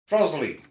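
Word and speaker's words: Trottiscliffe: Trosley.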